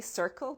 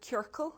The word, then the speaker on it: ciorcal: There was a hat, I always say it wrong. I go to say circle, but ciorcal, which is the Irish for a circle.